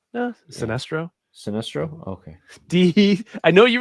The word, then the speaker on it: Sinestro: And this is Sinestro. Sinestro? Am I right? Did you pronounce it right? The pronunciation? Yeah, Sinestro.